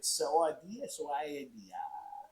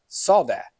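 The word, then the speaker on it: سوداء: I don't know exactly how to say it phonetically, the way it's spelled, but in Arabic it's Sauda. Sauda? That translates to black. But the way we write it here, it's like Saudia. So wait, say the right way. Sauda. Sauda.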